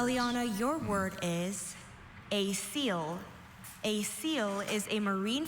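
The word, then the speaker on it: coel: Aliana, your word is a seal. A seal is a marine flatworm that lacks a digestive cavity with definite walls and that receives food into a porous mass of endodermal tissue. A seal.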